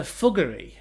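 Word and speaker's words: Fuggerei: And according to Trip Advisor, the number one attraction in Augsburg is the Fuggery. Not thuggery, fuggery with an F.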